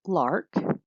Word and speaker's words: LARC: The abbreviation LARC, or pronounced LARC, stands for long-acting reversible contraception.